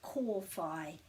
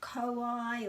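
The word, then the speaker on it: kōwhai: or your um group is cor phi and it's not kawaii or kofi it's definitely core got that excellent and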